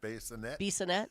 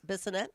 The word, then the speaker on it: Bissonette: Bassinet? Bissonette?